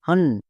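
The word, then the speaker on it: hunt: তাহলে এবার উচ্চারণ করি এইচ এইচ এর জন্য হো ইউ এর জন্য আকার কেন কারণ ইউ এর পরে পরপর দুটো কনসোনেন্ট আছে নেক্সট এন এন এর জন্য কি হই দন্তনু তাহলে কি হলো এইচ ইউ এন হান্ট clear টি টি এর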